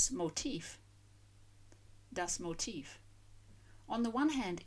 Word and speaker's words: motif: It has a distinct F sound at the end, not like motive with a voiced sound. And the stress on the second syllable, whereas motive, the reason for doing something, the cause for the crime, of course, stresses the first syllable.